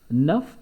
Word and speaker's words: neuf: So it will be neu and f will be changed to ve, and we will pronounce it nuv, nuv, nuff and nuv. Nuff is masculine and nuv is feminine.